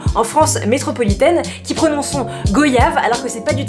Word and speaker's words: goyave: En fait, c'est une pétition pour correctement prononcer le mot goyave. En fait, il nous explique qu'en gros, on dit pas goyave comme on dit pas voyage. On dit pas son Altesse royale, on dit son Altesse royale.